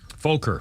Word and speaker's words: Fokker: Is that how you pronounce it? Fokker? Fokker, yes.